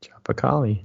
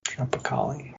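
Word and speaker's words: Tropicália: Comforts and there's his Tropa Cali I think I don't know I can't pronounce anything it's Tropic and then a with the accent l i a tropicali tropicali what kind of beer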